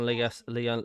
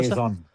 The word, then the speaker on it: liaison: Yes, Trev, I'll message the supporting Leon. Is that what you pronounce it? Liaison officer? Liaison. There you go.